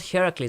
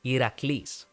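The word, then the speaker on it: Iraklis: thank you you see his actual name is not I it's not Heracles either it's actually iraqlis Iraq lease it's uh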